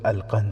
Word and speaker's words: القنص: نام بھی لکھا ہے۔ نام القنص تھا، جس کا تلفظ القند ہے۔ وہ مصری مسلمان تھا،